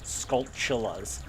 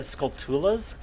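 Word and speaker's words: Skulltula: go oh okay it took me forever to realize the the pronunciation of these spider enemies was skull chillas I always said skulas but I was like wait a minute it's like tarantula skolas before skolas that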